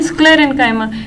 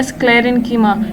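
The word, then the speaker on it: sclerenchyma: हैं पेरेन्काइमा, कोलेन्काइमा एंड स्क्लेरेन्काइमा। इसको ऐसे मत पढ़िएगा पेरेन्कीमा, कोलेन्कीमा या स्क्लेरेन्कीमा, इट्स पेरेन्काइमा। ओके, बहुत से बच्चों को मैंने देखा है वो गलत प्रोनाउंस करते हैं इसको, तो दिस इज रॉन्ग।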